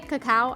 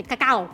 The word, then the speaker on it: cacao: And I can't just say cacao, I have to say cacao.